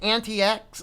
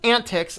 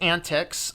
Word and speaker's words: antiX: have a look at an TX or excuse me is pronounced antics according to the gentleman on the video here and being said this